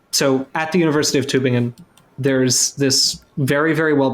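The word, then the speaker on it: Tübingen: But it's a good skull at the University of, is it, Amelia, correct my German pronunciation, Tubingen? It would be Tubingen.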